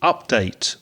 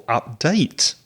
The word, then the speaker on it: update: might be right yep another word that has changing stress with verb and noun uses update or update is the verb so using the verb